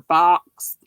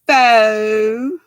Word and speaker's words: faux: fur go for foe some people say go for fox because that's what it looks like but it's pronounced foe f a u x